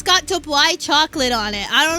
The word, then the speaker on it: Dubai: It's pronounced Dubai. It's Dubai. It's so yummy. Ah! It's so good, actually. Dubai or Du Bois? Dubai. It's pronounced... It's like D-U-B-Y. Dubai. It's exactly how you say that word.